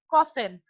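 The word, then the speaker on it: coffin: आप प्रोनाउंस कैसे करेंगे दिस कॉफिन ठीक है जैसे कॉफी होता है ठीक है इसी तरह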